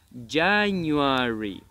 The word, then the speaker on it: January: Ya, pero el acento está en la A. Ya new. Ya new. Exacto. Y la última parte suena como Ari. Perfecto. ¿Te acuerdas de la pronunciación de la R del four? So, el mismo, la misma pronunciación. So, Ari. Ari. New Ari.